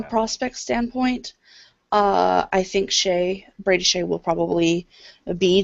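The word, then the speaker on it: Skjei: don't have no chance he's it's it's it's pronounced Shay from what remember from the list the only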